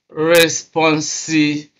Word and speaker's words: responsibility: Responsibility. You can see that stress is on be responsibility.